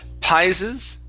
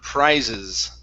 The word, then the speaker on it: prizes: Let's take a look at the last word here instead of pises. Okay, purr. Give me a pr sound. Purr. Prizes. prizes. Very good.